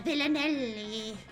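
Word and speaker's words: villanelle: A villanelli. That's how you say it. That's because it has the word villain in it.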